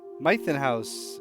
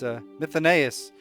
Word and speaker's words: Mythonaeus: Mythonos. No, it's Mythonaeus.